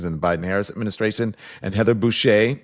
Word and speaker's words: Heather Boushey: And Heather Boushey, it's right, it's Boushey.